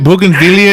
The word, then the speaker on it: bougainvillea: But okay, so the first picture on your Facebook page is a bougainvillea, right? I knew you were going to say something about that. Did you? Now, am I saying it right? Bougainvillea?